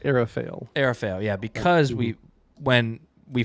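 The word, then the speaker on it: Aral Fayle: fail or something like that, because The narrator pronounces like Arafael.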